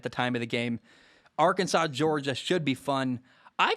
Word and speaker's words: Arkansas: It's spelled Arkansas, but I have to spell S-A-W at the end because I forget how to say it.